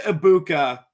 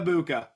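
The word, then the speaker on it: Egbuka: I was once told on TikTok that you don't pronounce the G in Ibuka. Emeka Ibuka.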